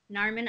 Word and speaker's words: Narmin: my name either, so I have to like always say Carmen, but with an N. Narmin. But you know what though? You're kind of like a Cher. You can just say Narmin, and everyone knows exactly who you are.